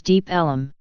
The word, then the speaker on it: Deep Ellum: The name Deep Ellum comes from local people pronouncing Deep Elm as Deep Ellum.